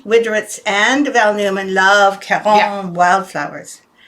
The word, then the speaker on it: Caron: Anyway, Mary Widrowitz and Val Newman love Caron wildflowers. I say Caron because that's what Kathleen calls it. That's how Kathleen, Kathleen, who works here, is French Canadian, so she always pronounces Karen as Caron.